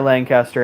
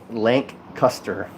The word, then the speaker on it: Lancaster: Someone says pronounce the word Lancaster. It's definitely Lancaster. Yeah. Lancaster. Yeah. Lancaster. It's like Lancaster or Lancaster, and I technically it's Lancaster.